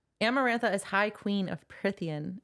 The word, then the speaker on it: Prythian: Amarantha is High Queen of Prythian. Is it Prythian, right? Mm-hmm. I can never remember. That's what I say. I say Prythian. Okay, Prythian.